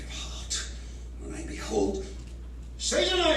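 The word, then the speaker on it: Seyton: Satan. It looks like Satan. It's pronounced like Satan, but it's spelled S Y T. Satan. I am sick of heart. When I behold Satan, I say this push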